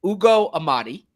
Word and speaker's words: Ugo Amadi: And I want to make sure that I get the name right because pronunciations matter, for Ugo Amadi.